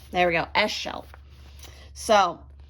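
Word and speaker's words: Ixchel: Eschel. There we go. Eschel.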